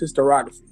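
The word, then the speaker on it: historiography: And it's just and it's pronounced hysterography. I don't know why I couldn't say it right today. It's hysterography.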